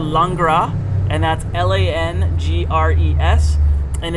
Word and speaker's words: Langres: it should be runny ours is it's called langra and that's l-a-n-g-r-e-s and it's a cow's milk